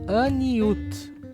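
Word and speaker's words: עניות: Se fala Aniut, Aniut, e significa humildade.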